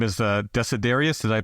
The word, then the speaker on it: Desiderius: There's this figure in the book that his name is Desiderius. Did I pronounce that correctly?